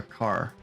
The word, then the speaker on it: char: says it needs a car I say char it's pronounced car let's do another lure